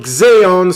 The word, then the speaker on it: Xaon: Some symphonic death metal here, and I'm bringing you this time to Switzerland with a band called Xeon, spell it Xaon.